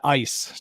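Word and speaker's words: Eis: Her name's Ice, E-I-S. It's a German name. Her and Draco are awesome. I was wondering how you pronounce that. I was like, huh. Yeah, Ice.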